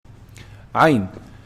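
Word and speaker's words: عين: Ayn. Ayn is pronounced from the middle of the throat.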